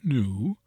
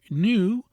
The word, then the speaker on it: new: New, pronounced as new, is an example, and few as in foo, and the true sounds are new and few, the U retaining its proper soft sound and not that of oo.